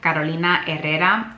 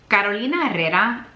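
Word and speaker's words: Carolina Herrera: by car kolina errera why I feel the need to pronounce this name in Spanish is because kolina herera has been a designer that's been around since my childhood and my grandmother was a very big fan of missa and that's how I've always remembered to pronounce her name this is very good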